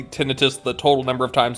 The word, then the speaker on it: tinnitus: There are 3 syllables in that word.